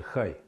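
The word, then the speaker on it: חי: есть одна шкатулочка вот эти буквы они означают хай хай читается хай обозначают жизнь но жизнь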